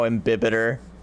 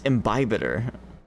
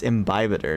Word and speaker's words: imbibitor: how ambiter sounds stupid that's because it's not said that way I I don't I don't know why I'm mispronouncing a word it was what uh triggered that thought but it's imbibitor which sounds a lot better it still sounds kind of weird but it's imbibator not ambiter that's why it it